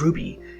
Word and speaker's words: RWBY: The title, RWBY, pronounced as RWBY, is a double acronym.